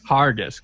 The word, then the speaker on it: Harguess: do you say your last name heart argus hargis hargis of uh the bad roman podcast